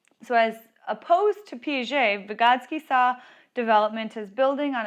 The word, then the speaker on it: Vygotsky: child's life again his name is Vygotsky Lev Vygotsky is how you say it and so again